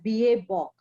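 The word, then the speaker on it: BABOK: It is pronounced as BA Bok.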